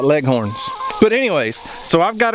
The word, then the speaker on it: Leghorn: big white legen roosters yes I said legen I know how to spell it and I also know how to say it because in Oklahoma those white chickens back there right there are not called leghorns they're called leggins I've had people correcting